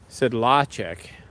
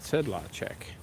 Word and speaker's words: Sedlacek: Because people say my last name, Sedlacek, or whatever, and that's not the way a Czech would say it. The Czech would say it Sedlacek. A little bit of emphasis on the first syllable, but mostly evenly pronounced.